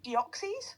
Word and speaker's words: Deoxys: Deoxys.